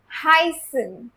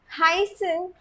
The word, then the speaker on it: heißen: C first focus on the pronunciation हसन।